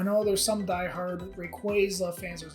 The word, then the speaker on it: Rayquaza: records about I know there's some Die Hard Rayquaza fans it's Rayquaza yeah I don't think I've watched any of